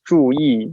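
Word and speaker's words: 注意: just means pay attention right so true it's pronounced as true e so true means in the literal translation is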